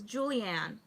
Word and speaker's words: JulyAnne: JulyAnne, but it's pronounced as Julianne.